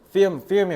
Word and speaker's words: film: film이 왜냐면 영화란 뜻이야. 필름 아니고 미국식 발음은 film. 애를 살짝 드셔야 돼요.